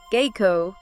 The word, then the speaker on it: Geiko: And in Kyoto, you'll often hear Geiko, G-A-Y-koh for the fully fledged artists.